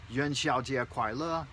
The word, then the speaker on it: 元宵节快乐: Don't forget, make sure you say it like this, Yuan Xiaojie Kuai Le.